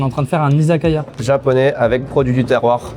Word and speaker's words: izakaya: fait on est en train de faire un izakaya. Japonais avec produits du terroir. C'est super. Ici on dit un isokoyo. Ah c'est vrai? Bah c'est comme ça qu'on prononcerait quoi.